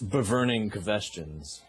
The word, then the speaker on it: Bvrning Qvestions: It's called Bvrning Qvestions. But okay. instead of U's, there are V's because somebody already took Bvrning Qvestions with U's. So it's Bvrning Qvestions. Spelled phonetically.